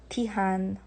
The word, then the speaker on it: Tihan: Tihan. So you have to pronounce the H.